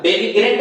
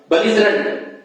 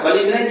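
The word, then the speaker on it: belligerent: बेलिजरेंट इसका pronunciation होता है, बेलिग्रेंट मत पढ़िएगा, बेलिजरेंट, ठीक है ना। बेलिजरेंट इसका प्रोनाउंसिएशन होता है।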